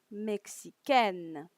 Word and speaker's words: mexicaine: Now, if you notice, in every time I pronounce the feminine version, you can hear the consonant, okay, the final consonant. When in the masculine version, you don't. You hear a vocal, okay.